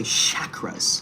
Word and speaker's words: chakra: Don't say chakras like a white girl from Arkansas or something, okay? Don't say chakras. I'm trying to align my shit. What the hell? Chakra. Chakra. You gotta say it correctly, bro.